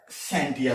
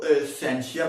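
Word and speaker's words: scientia: साइंस जो है एक लैटिन वर्ड है, ये निकला है सेंटिया से। इसकी मुख्तलिफ प्रोनाउंसिएशन है, कोई इसको सेंशिया पढ़ता है, कोई इसको सेंटिया पढ़ता है।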